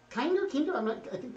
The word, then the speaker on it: Kinder: are still being kinder kinder is how you say okay kinder eggs chocolate